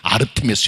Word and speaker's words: 아르테미스: 신 그 성의 수호신은 아데미 여신입니다 한국적인 번역 발음이고 원래는 아르테미스 여신이죠 헬라 여신이에요이 이름이 나중에